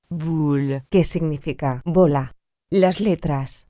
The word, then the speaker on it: boule: Las letras O, U se pronuncian como un U español. Por ejemplo, boule, que significa bola.